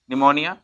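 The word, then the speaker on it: pneumonia: इसी तरह से हम बात करते हैं एन, एन से पहले क्या आ रहा है हमारे पास? यानी कि क्या है यहाँ पे? P silent, निमोनिया, न्यूमेटिक, P silent.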